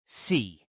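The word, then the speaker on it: 四: In Chinese, the number 4 is pronounced si, which strangely almost overlaps with the word si, meaning death.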